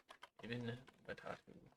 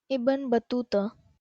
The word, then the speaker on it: Ibn Battuta: Ibn Batatu. Pronunciation. Ibn Battuta.